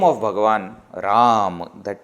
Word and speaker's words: Ram: So Ram, when you say, there are three syllables, R, A and Ma, Ram.